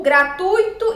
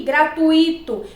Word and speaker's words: gratuito: Então, a sílaba tônica na palavra gratuito é o U, gratuito, e não o I, gratuito.